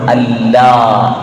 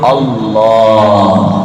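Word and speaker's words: الله: ഓരോന്നും ഓരോന്നും രേഖപ്പെടുത്തി വെക്കുന്നു അള്ളാ എന്ന് പറയേണ്ടത് നമ്മൾ അല്ലാ അല്ല അലാ എന്ന് ഉച്ചരിക്കുന്ന ആ സ്ഥലത്ത് തളീമായിട്ട് അള്ളാ അപ്പോ അല്ല എന്നാ ഇവിടെ തന്നെ ആ നാവിനെ വെച്ച് അള്ളാ എന്ന് പറയുമ്പോഴാണ് അതിന്റെ ഉച്ചാരണം ശരിയായ രൂപത്തിലേക്ക് വരുകയുള്ളൂ ഇ നോക്കൂ അള്ളാ എന്ന്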